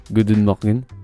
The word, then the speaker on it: goedemorgen: prononcent goût d'une dague good morning se prononcent goût d'une mine alors que leur mercie